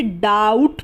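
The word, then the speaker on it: doubt: यू बी टी डाउट तो यहां पर जो ये बी है ना ये साइलेंट रहेगा इसका इस्तेमाल नहीं होगा हम इसे डाउट पढ़ेंगे इस तरीके से आर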